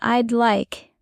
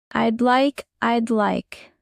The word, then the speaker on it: I'd like: In I'd like, the D is very soft, almost disappearing. Try blending it. I'd like.